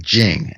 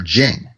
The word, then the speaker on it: Jing: So they had concepts like Jing, and that's spelled J-I-N-G.